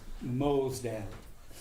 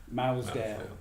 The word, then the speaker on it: Mosedale: But I just want to put on record that the correct pronunciation is Mosedale rather than Mousdale, which I dare say